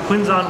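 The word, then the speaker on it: Quvenzhané: Jamie Fox and uh her name is quite hard to pronounce I thought it was a certain way but it's actually not it's quinzon Wallace and Annie remake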